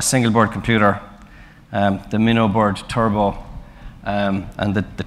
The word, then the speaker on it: Turbot: So it consists basically of a single board computer, the Minnowboard Turbot, and the T is silent, I believe.